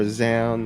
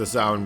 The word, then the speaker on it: Zaun: I mean, it rhymes with noun, so that's why I just call Exactly. him Zaun.